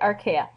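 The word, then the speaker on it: Archaea: and domain archa that's how you say it archa and notice that all of organisms have they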